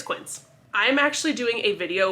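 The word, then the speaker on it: Quince: the name of the company because I was pronouncing it kin like K Anda so it's quins I'm actually doing a video with them that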